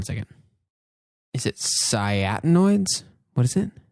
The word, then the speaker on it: anthocyanins: Is it cyanoids? What is it? It's anthocyanins. Anthocyanins. I mixed different syllables.